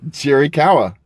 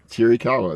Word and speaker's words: Chiricahua: Cherry kawa. Cherry kawa.